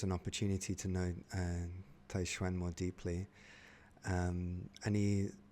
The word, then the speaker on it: Taixuan: like that's interesting um like those two characters Tay and Schwan like that's how an English-speaking person would pronounce two Chinese characters but they're mispronounced like if you were pronouncing them in Chinese it would be taiwen not tan be taiwen and uh this definitely